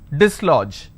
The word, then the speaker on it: dislodge: an amazing example disl even though we have the letter du but we have the letter the sound du only in the beginning we don't have the letter J but the G carries the function of J likewise you need to